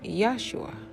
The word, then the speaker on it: Yeshua: The individual's name in question was actually Yeshua. The letter J, and in the way we pronounced it as J, did not exist as a letter during his time period.